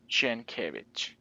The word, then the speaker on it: Sienkiewicz: I'm going to look into how to properly pronounce his name. Maybe if I find it, we'll paste it right here. Sienkiewicz.